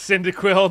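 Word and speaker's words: Cyndaquil: somewhere there it is it's pronounced syndic Quil not s not Pearl silly I know hey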